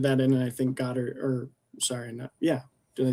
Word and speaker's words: Goddard: I love how Weir blended that in, and I think Goddard, did I say his name right? Drew Goddard? Yeah, Drew Goddard.